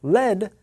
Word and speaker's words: lead: often meet them first the noun lead sounds like the noun head and you don't want